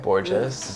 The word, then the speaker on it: Borges: say your last name gorgeous gorgeous yeah like gorgeous with the bee well welcome to worlds